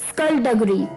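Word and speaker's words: skulduggery: जी हाँ दोस्तों, स्कल्डगरी, स्कल्डगरी, स्कल्डगरी स्पेलिंग थे SKULDUGGER, स्कल्डगरी।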